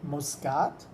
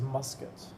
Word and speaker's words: Muscat: of all I want I'm pretty sure I'm saying muskat right because at first I was calling it MCAT which I think is how the Germans pronounce it but a local guy told me it was musket so I'm hoping that's correct all right first part